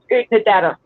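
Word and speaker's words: Oodnadatta: I'm just here for a minute because I'm in the middle of cooking dinner, but it's pronounced Udnadata. Odata? Udnadata. Yep. Oh, there it is right there. Utnadata.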